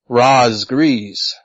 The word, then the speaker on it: Razgriz: very first gamertag was razgriz 1988 it's actually pronounced RZ grees 1988 um where did did